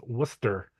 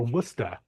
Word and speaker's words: Worcester: very close phonetically like in letters but it's pronounced Worster or wora depending on what part of the state you're